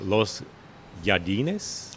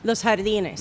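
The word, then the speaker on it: Los Jardines: And I hope I'm pronouncing this right. Uh the Los Yardinz. Los Hardinz. Los Hardinz.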